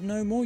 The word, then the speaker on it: Namor: I looked into it and the name in the comics is just the word Roman backwards. Any different pronunciations are just based on where you're from.